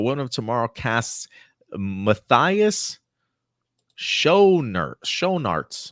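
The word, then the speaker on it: Schoenaerts: of Tomorrow casts Mathias Sher sharts how the do he even pronounce his last name show sharts in villain role uh I believe that's how you pronounce it mathas sharts Belgian actor U has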